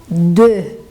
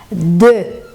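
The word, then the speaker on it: deux: Terceiro é o número 2, que a gente pronuncia de. Existe uma tendência, não sei porquê, dos alunos falarem do, que não tem nada a ver, né? Que seria meigo, seria doce. Então, é de.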